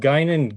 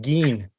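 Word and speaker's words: Guinan: data, and they called they called Gynan Gin.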